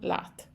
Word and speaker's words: leat: with you last means with you so Sloan lot Sloan La so then if you're saying this